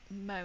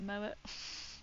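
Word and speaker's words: Moët: I did take a bottle of Moe, is that how you say it? Moet.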